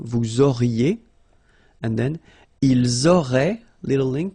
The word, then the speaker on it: auraient: Vous auriez, little link between the two, vous auriez, and then, ils auraient, little link, but then, look, A-I-E-N-T like that, and you only pronounce E, like we had here.